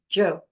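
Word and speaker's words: 九: going to chant ju which is the number nine in Chinese it's pronounced Joe Joe Joe vibrates the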